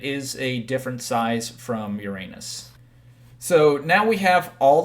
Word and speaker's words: Uranus: the first of which everyone laughs at being Uranus or the cor the correct pronunciation being Uranus but I will still